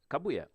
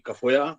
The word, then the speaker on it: Kafuya: Kabuya, should I say Kafuya? Yes, either is okay. It's actually Kafoya, which is the way it's meant to be pronounced. And but if you anglicize it, Kabuya will do.